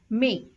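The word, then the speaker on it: mais: pronounce this word as may as I mentioned we generally don't pronounce the last letter of the word if it's a consonant except for the consonants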